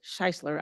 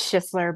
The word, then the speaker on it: Schisler: of Prevention First, Scheisler. I hope I pronounced that right. Did I pronounce that correctly? It's fine. It's Schisler, but it's fine.